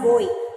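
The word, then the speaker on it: buoy: bed okay on a boy in the stone it floated sun on a boy p-u-o-y it is pronounced as boy the meaning is the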